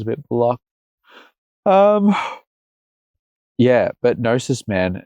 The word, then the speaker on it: Gnosis: Gnosis is just Greek for knowledge. Like, so, yeah. And like you told me last time, the G is silent because G's always move in silence, like lasagna.